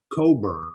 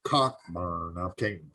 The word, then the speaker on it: Cockburn: But the other guy that was on was a folk singer, Bruce Coburn or Cockburn. I'm not sure exactly how you pronounce his last name. Cockburn. I think it's Coburn.